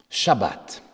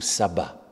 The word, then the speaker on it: shabbat: moins de SEP fois on l'a prononcé de fait différemment Marie-Jeanne et moi mais vous l'avez tout de même entendu SEP fois shabbat ou sabbat en français shabbat qui en hébreu veut